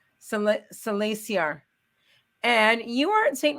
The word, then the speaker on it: Salasiar: Salasiar. Salasiar.